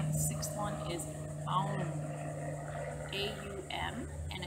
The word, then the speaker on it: Aum: The chakra that we're dealing with now, the 6th one, is Aum, A-U-M, and it's pronounced Aum, so it's pronounced A-H-U-H-M.